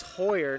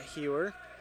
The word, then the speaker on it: Hoyer: It's Chase Hoyer, not Hewer.